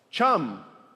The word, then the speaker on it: chum: Chum rhymes with thumb.